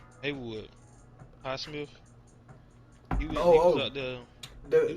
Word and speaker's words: Highsmith: Highsmith.